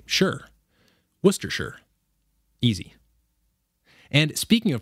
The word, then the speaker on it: Worcestershire: how you pronounce it you say the name of the second biggest city in massachusetts worcester and then you pretend somebody just asked you if you'd like a